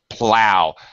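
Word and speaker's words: plough: there it is okay plow notice the spelling with the g-h American English it's not even really close to that it's pronounced exactly the same but in American English it's PL o w plow yeah hello okay that's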